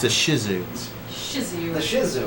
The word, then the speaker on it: Shih Tzu: I think the T is silent.